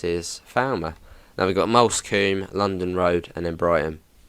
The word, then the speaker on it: Moulsecoomb: Just trying to think of the funniest pronunciation I've heard of Moulsecoombe. Probably Mellerscoombe, or something like Mollerscoombe, or something like that. But yeah, Moulsecoombe.